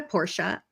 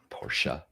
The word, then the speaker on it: Porsche: Porsche. It's not Porsche. Well, I I think did that's how they say it.